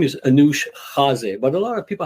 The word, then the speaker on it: Anoush Khaze: let's bring in our incredible guest and now anush anush i'm getting tongue tied with your name you may want to pronounce it beautifully as you did earlier well